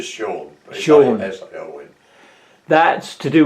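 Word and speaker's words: Sion: They pronounce it Sean.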